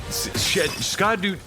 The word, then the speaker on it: Scadu: radiant landscape of scadu scadu it's pronounced shadow alus Beau yeah I was wondering like everybody's saying Shadow but it's WR S C A duu is back just trolling us it's SC no no no it's scad but it reads Shadow oh God why did